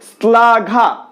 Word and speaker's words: শ্লাঘা: যেমন ধরো শ্লাঘা, শ্লাঘা তালব্য স এর সাথে ল রয়েছে, সেক্ষেত্রে শ্লাঘা, শ্লাঘা হওয়ার কথা শ্লাঘা, কিন্তু শ্লাঘা কি আমরা উচ্চারণ করছি, আমরা উচ্চারণ করছি শ্লাঘা, দাঁতের সাথে জিভটাকে স্পর্শ করাচ্ছি, তো দন্ত স এর মতো উচ্চারিত হচ্ছে।